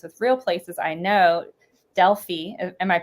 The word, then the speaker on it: Delphi: Delphi, am I pronouncing that correct?" I say Delphi, like Delphi.